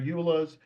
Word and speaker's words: EULA: If that includes showing their EULAs, then yes, that process will include that.